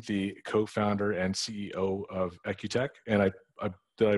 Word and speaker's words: Equteq: by mark payne the co-founder and ceo of ecutec and i i pronounced that equitec i pronounced that correctly right that's right yep perfect